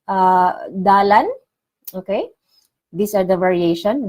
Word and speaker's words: dalan: others we say uh dalan okay these are the variation dalan or Dan we don't pronounce the letter L we just say Dan next one curve it's